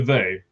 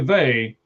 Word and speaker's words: Vea: most, which is Vita Vea. I think that's how you say his name, right? Vita Vea? Vita Vea. It's Vea. Oh, Vita Vea.